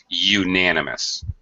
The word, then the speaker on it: unanimous: here it's like Y sound. So it's unanimous.